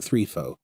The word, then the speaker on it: Threfo: We'll call it Threfo. Threfo. Threfo is the official pronunciation as of now.